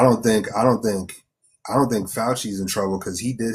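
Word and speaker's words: Fauci: Fouchi. Yeah. Yeah. Fouchy.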